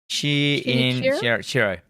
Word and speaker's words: Shinichirô: Shinichirô.